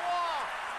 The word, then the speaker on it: Roy: I now know, after all these years, I've known for a while, the guy's called Patrick Wah. I still don't agree with how the name is pronounced because it's Roy.